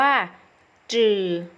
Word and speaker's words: 只: ได้ สอง เสียง เสียง ที่ 1 อ่าน ว่า จืด จืด มี หน้า ที่ ของ คำ คือ ฟูด